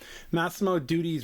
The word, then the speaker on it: Massimo Dutti: I don't know how to pronounce this brand. All right. I'm sorry. Massimo Dutti's rebrand, a masterclass in brand suicide.